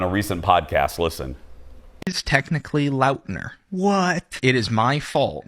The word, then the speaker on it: Lautner: about it on a recent podcast listen technically Lautner what it is my fault nobody knows how it's actually pronounced because I never corrected anybody decades no